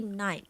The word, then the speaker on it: knight: Another one is KNIGHT. And we, by all means, we would never say knight. Knight. No, there's no such thing. Jangan nak sebut knight. So it's only night.